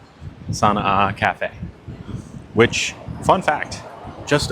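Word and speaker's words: Sana'a: So, we're going to the Sana A Cafe. I'm Am I'm saying it right? Sana A. It's S Apostrophe A. Sana A Cafe, which fun fact, just opened like 2 weeks ago.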